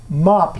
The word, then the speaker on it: mop: Now this is mop. Now you see that mop is an M-O-P, but we pronounce the O as though it were an A for an A.